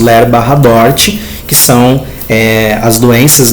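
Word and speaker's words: LER/DORT: colocaram ler barra dort Então hoje a gente pronuncia isso ler bar dort que são eh as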